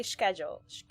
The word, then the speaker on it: schedule: correct you can say schedule you can say schedule schedule you don't have to pronounce the k most people don't I think but yeah